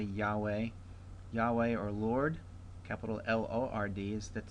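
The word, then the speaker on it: יהוה: Next we have Yahweh or Yahweh. I would say Yahweh.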